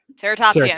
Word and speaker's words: Ceratopsian: Help me pronounce this. Ceratopsian? Ceratopsian.